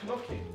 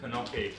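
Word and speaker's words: gnocchi: Oh, like knocky. Knocky. Nice. I thought it's called knocky. I thought the G is silent.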